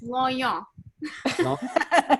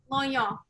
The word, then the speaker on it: Longnion: So how do you pronounce your last name? It's Longnion. There you go. Say that one more time. Longnion. Longnion.